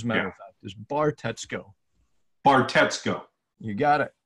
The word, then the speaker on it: Bartetzko: because it's spelled and it's pronounced exactly how it's spelled as a matter of fact this bar Tesco or Tesco you got